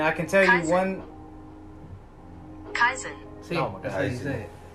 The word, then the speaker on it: kaizen: Kaizen.